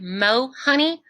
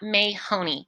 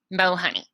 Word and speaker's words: Mohoney: mahoney at jeffco schools.us please know that my name is spelled m-o like mo honey not may honey it's kind of like i'm a little bit sweet but not that sweet mo honey and please please please